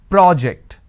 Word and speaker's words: project: the first one so when i'm stressing on the first syllable it becomes a noun that means please submit the project i say project this is project here